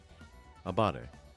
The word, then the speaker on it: abare: Abare. Attacking while you're a negative frame advantage. Pronounced abare, at least by English speakers.